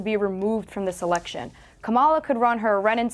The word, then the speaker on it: Kamala: And I think everyone, I'm starting to mispronounce her name. Are they getting me? It's Kamala. It's Kamala. It's very easy.